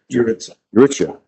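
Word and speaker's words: Jurica: How do you pronounce it again? Yuritsa.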